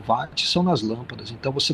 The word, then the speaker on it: Watt: A gente pronuncia assim o Watt, W-A-T-T, né?